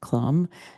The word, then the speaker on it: Clum: here and most of you know John Clum pronounced Clum uh and he is a former um English